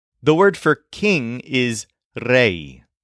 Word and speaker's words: rey: word for King is Reay spelled re y so this word is pronounced with a bend in it kind of like the word say and unlike the words